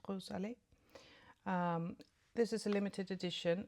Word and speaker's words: Rose Allée: This little guy, the Hermès Plein Air in number 10, Rose Allée, or Rose Halley, but I think it's pronounced Rose Allée.